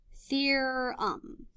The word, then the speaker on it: theorem: the angle sum theorem the word theorem is pronounced like this fear um and it's sort of like this root word